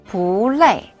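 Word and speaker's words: 不累: 빠바레이마 볼레이 안 피곤해요라는 뜻입니다. 뽀 뒤에 위에서 아래로 내려오는 음인 레이가 와서 뽀는 올라가는 음으로 발음하면 됩니다. 이렇게요.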